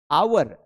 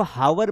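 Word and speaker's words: hour: आवर। अब कई लोग इसको हावर बोलते हैं। लोगों को पता ही नहीं है। एच यहां पर साइलेंट है।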